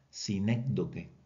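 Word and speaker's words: sinécdoque: Aquí no tiene la tilde, pero pronúncielo de esta manera. Sincdo y en este caso, la palabra clave que describe esta figura es relación.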